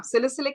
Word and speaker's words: salicylic: Is that how it's pronounced? Yeah, salicylic acid and niacinamide.